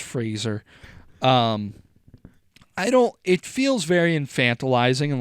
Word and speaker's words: Fraser: Dickie Roberts' former childhood star fans will know that it's pronounced Fraser.